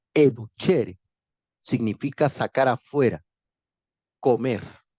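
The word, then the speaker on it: educere: el lenguaje latino clásico educhere se pronuncia educhere significa sacar afuera comer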